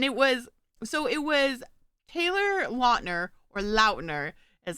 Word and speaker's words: Lautner: Speaking of Twilight, though, I did see this TikTok this week, and it was Taylor Lautner or Lautner is how it's actually apparently pronounced.